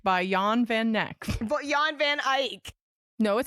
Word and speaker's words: Eyck: Jan van Eyck. No, it says His Neck. neck. Spelled. I mean, if that's pronounced Ike, then I really am.